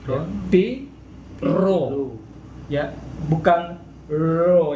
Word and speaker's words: rho: Ya, bukan ro, ya, bukan ro. Trilling. Jadi bergetar. Ro.